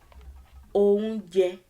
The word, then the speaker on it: oúnjẹ: Oúnjẹ, oúnjẹ, oúnjẹ. Re is the first syllable. The second. Je, the third. O, the first. The second. Je, the third. So there are 3 syllables in the word.